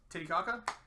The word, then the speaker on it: Titicaca: We've got Lake Titicaca? Is that how they actually pronounce it, or is that how people make jokes about it? I believe that is how it is pronounced.